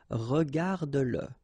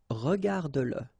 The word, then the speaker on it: regarde-le: Remember that if you've got, in some situations, the pronoun le, and if it comes after your verb, like in that case, then you will have to pronounce it. Okay, so regarde-le, regarde-le, all right, regarde-le.